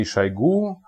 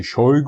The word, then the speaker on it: Shoigu: enough the current minister of defense is Sergey shaigu or Sergey shoigu or whatever you want to pronounce it in English was one of the